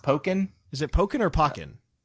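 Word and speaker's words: Pokkén: is why it's called by the way it's pronounced pokken is it polka nor pocket well actually gator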